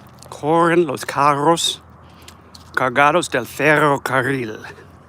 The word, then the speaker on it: ferrocarril: See, words in Spanish that have two R's together, you're supposed to roll your R's. Cigarra. Guitarra. Ferrocarril.